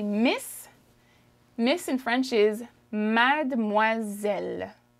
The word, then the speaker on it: mademoiselle: so i don't typically i wouldn't typically say mad de moiselle although that's how it's spelt but if i'm speaking i would say mad moiselle mad moiselle it's like we hop over the d okay you want to